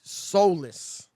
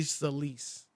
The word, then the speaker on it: Solis: all i know and if you saw ashley soulless yesterday salis elise is how you pronounce it ashley solis rob i mean she was convincing she was